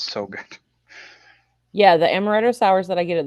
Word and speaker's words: amaretto: I'm calling it Almaretto because it's got almonds in it, I guess, but there's no L in it, so I'm just pronouncing it wrong.